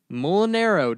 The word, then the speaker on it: Mulinaro: Today's episode is featuring Mulinaro.